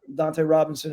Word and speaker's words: Dante Robinson: Dante Robinson is how it's pronounced.